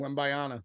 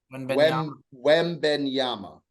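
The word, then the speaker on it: Wembanyama: know um ween Baya now how do you pronounce it w bayana yeah wenyama I thought Victor W bayana but wenyama what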